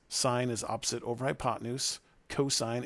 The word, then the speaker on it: sine: is again still pronounced even though it says it's spelled SI n like sin you still call it sine you don't call this cos or Coast we